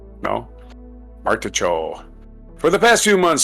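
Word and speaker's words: Martichoux: This is from a story by Alex Martichot. I think that's the French pronunciations. Chaux? Cho? No? Martichot.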